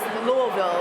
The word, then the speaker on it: Louisville: you know not what how do you guys louville that's how it's supposed to be pronounced right I don't want anybody you